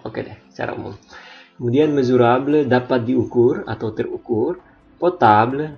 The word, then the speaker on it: mesurable: Oke, kemudian yang ini juga S, seperti pada video sebelumnya, kalau diapit huruf vokal dia dibaca Z, mesurable.